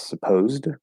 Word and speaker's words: supposed: to read it as supposed um because there's no t after it i think that s um is usually a z sound um or if it's